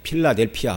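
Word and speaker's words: Philadelphia: 빌라델비아 도시였습니다이 빌라델비아 성경에서는 우리말에선 빌라델비아 그렇지만 이제 발음을 하면 이제 필라델피아 뭐 이렇게 얘기를 해야 됩니다이 말은 헬라어로 사랑을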